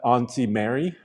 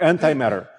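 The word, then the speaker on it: Antimatter Blue: in super chat uh a lot of people said i mispronounced anti-matter blue uh they thought i said auntie mary well it is auntie mary what guys what's up with you it's auntie mary blue no anti-matter yeah andrei i'm sorry um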